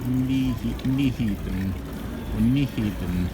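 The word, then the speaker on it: Nyhavn: just telling us that this noi harbon is it is in fact pronounced something like me even or something so um who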